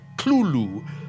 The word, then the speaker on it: Cthulhu: tells a colleague, well, it's really meant to be 2 syllables. You're supposed to put your tongue at the roof of your mouth and cough it out like Cthulhu.